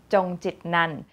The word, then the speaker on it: Chongchitnant: And my last name, if you've ever been curious, is pronounced Chongchitnant.